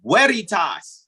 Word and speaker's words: Veritas: what i mean indeed whereitas the v is pronounced like a w in latin means truth and i'm